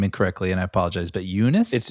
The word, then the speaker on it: Joonas Suotamo: I'm going to say his name incorrectly and I apologize, but Joonas? It's Joonas Suotamo.